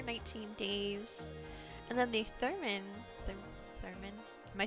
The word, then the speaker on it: theremin: And then the THEREMIN.